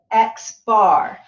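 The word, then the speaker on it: x̄: With a sample, we use the symbol X bar. That's how we pronounce that when we put a bar over it. We call it X bar.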